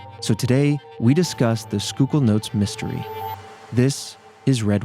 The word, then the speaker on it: Schuylkill: loop wait what yeah it's s c h u y l k i l l skookul skookul all right or School kill is the other pronunciation we saw online what yeah all right